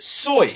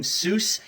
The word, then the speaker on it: Seuss: You're wrong as the deuce and you shouldn't rejoice if you're calling him Seuss.